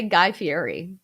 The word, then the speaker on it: Guy Fieri: i would watch i like how you say guy fieri you say it like the problem like how you're supposed to pronounce it oh he's he is my god